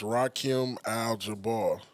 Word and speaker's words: Rakim Al Jabbaar: He's trying to add Like you letters said, and that's you syllables said. to my shit. You said that. It's Rakim Al Jabbaar.